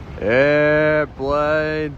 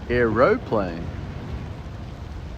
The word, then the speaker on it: aeroplane: Airplane, people. Airplane on my scope. But that's how Americans say it. We say aeroplane. We put the O in. We don't say airplane, we say aeroplane.